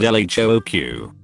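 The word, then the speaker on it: L.H.O.O.Q.: The letters in the title, when pronounced in French, sound very like she has a hot ass.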